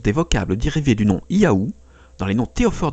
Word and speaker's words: Yahvé: celui du dieu biblique la prononciation originel du nom du dieu devait donc être proche de la séquence des sons yahoo cette hypothèse est d'autant